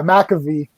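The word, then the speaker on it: McAvoy: stewart and uh james mcovie am i pronouncing the last name right um they're patrols are really yeah mcafee mcafee yeah yeah that's it they're betrayals were really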